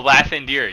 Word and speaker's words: Lathander: seen so many pamphlets, clearly a symbol of Lathander is on one of these reliefs. Oh, you mean Uh-huh. Lathandir? Oh, Lathandir, yes, yep. Correct. We pronounce it differently where I'm from.